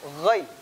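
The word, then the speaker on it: غ: Baik, pengucapan ghain pastikan suaranya mengalir, jangan tertahan. Ya, kadang kita mengucapkan ghain tertahan suaranya. Au, enggak. Au, mengalir. Coba.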